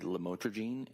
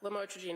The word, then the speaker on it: lamotrigine: We detected lamotrigine in a concentration of 6.1 micrograms per milliliter,